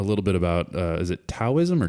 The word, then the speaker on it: Taoism: you mentioned a little bit about is it Taoism or Taoism or is it both it's spelled Taoism but it's pronounced Taoism okay and right before we started you said